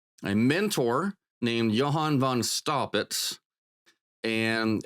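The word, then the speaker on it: Staupitz: he had a a mentor named Johan Von stopit and s t a u p i TZ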